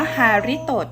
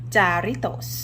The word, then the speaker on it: Jarritos: แฮรี่เตอร์ แฮ ริ โต อ่าน ว่า ฮาริด อด นะ จ๊ะ ไม่ ใช่ จารีต โอะ ภาษา ละติน เนี่ย เขา จะ อ่าน ตัว j เป็น ตัว H นี่ วัน นี้ แม่